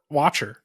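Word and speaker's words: Wachter: W uh how do you say his name Watcher right Dave Watcher um w a c h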